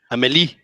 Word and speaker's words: Amélie: Or Amelie, or I don't know how to pronounce it. Amélie.